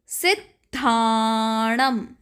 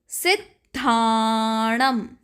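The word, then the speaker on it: सिद्धाणं: का उच्चारण करेंगे नमो सिद्धानम नमो सिद्धानम यहां आपने ध्यान दिया होगा कि हमने सिद्धानम में थोड़ा स्ट्रेस दिया है इसी तरह हम तीसरे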